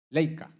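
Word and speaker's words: Leica: Crearon la famosa laica. Laica. Pronuncia Laica.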